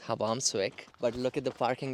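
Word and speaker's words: Hvammsvík: It's actually pronounced Hvammsvik, but look at the parking lot as compared to what it was when we came here.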